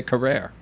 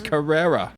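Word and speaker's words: Carrere: years old today I used to say tia Carrera for some reason Carrera it's Carrera I know her as uh Cassandra from Wayne's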